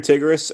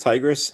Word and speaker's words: Tigress: Hey there, Tigris, or not Tigris, Tigress.